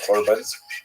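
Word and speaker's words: חורבן: tend to use the the Hebrew term usually pronounced it's the Ashkanaz pronunciation in the Corbin uh which ties the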